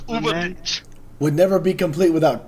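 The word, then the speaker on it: Übermensch: The Ubermensch? It's Das Ubermensch.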